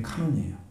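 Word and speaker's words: κανών: 헬라에 있는 캐논이라는게 있어요 우리는 논이라고 읽어요 원래 발음이 카논이에요 캐논은 식이에 카 그게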